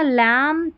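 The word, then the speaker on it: lamb: एम बी में भी क्या है, ये बी साइलेंट, एम बी ऐसे आखिर में आएगा और बी साइलेंट है, पढ़ लिया ना। लैम, थम, क्लाइम, कॉम, बॉम, तो यहाँ पर बी साइलेंट है।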